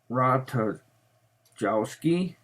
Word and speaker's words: Ratajkowski: Oh, Ratajkowski. I guess that J is silent, I guess.